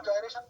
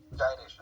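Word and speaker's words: gyration: अब कुछ लोग इसको जायरेशन बोलते हैं, कुछ लोग इसको गायरेशन बोलते हैं, दोनों ही मामला ठीक है। इसका करेक्ट प्रोनाउंसिएशन जायरेशन है, ठीक है।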